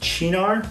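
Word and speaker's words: Cynar: Now this is the Chinar 70 proof. Also, I should say something about the pronunciation. All the research I've found says that this is pronounced Chinar with a CH.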